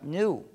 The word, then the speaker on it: GNU: No obstante, cuando hablas castellano, puedes pronunciarlo new, como si comenzara por ñ, lo que es también el nombre del mismo animal. Me dicen que pronunciar GNU es difícil para ustedes. No comprendo por qué, para mí es muy fácil, pero siendo así, recomiendo la pronunciación de new.